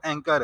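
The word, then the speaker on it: anchor: तो अच्छा, बहुत सारे ऐसे हैं स्टूडेंट जिस जो अभी भी कहते हैं कि यार वो एंचोर यूज़ कर लो, लेकिन बेसिकली जो इसकी प्रोनाउंसिएशन है वो एंकर है, ठीक है।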